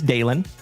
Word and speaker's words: Dalen: My name is Dalen.